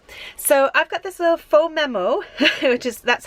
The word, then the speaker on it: Phomemo: little wireless printer so I've got this little faux memo which is that's how you pronounce the by the way I had to